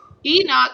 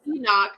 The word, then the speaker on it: Enoch: enough a thanks Amanda Enoch oh I'm saying it wrong not it's Enoch I'm sorry see the